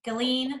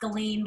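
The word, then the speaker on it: Galien: Oh, the Galleon? Yeah, Galleon River Park. Yeah, Galeen. I think it's pronounced Galeen, but I always say both.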